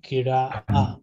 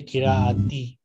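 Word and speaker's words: قراءة: So either we can say fil kira'a, which is the correct pronunciation, like ta become ha in pronunciation, or we can say kira'ati. But most of these students say kira'at, kitabat.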